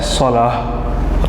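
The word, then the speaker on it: صلاة: इसको सलाह भी पढ़ सकते हैं और सलात भी पढ़ सकते हैं। नमाज को अरबी ज़बान में क्या कहते हैं? सलाह। ज़्यादा जो बेहतरीन इसकी प्रोनाउंसिएशन है वह है सलाह। ता चूँकि साकिन हो जाता है यहाँ पर।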